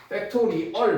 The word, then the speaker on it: 팩토리얼: 자, 기호는 느낌표 기호지만 읽을 때는 팩토리얼 팩토리얼 뭐 팩토리 r어 발음이기 때문에 자, 그래서 n 팩토리얼 그럼 예를 들어서 3팩토리얼이 있다.